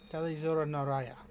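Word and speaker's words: Tali'Zorah nar Rayya: Talizora Naraya. Yes, that is how you pronounce it.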